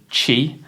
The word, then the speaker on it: Qi: yogic traditions in Chinese philosophy it's called called Chi it's spelled Qi sometimes it's spelled c hii and